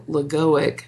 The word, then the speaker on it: logoic: And then there's the monadic or logoic plane. I'm going to spell that for you because it's an odd word, something you don't hear. Logoic is like logo.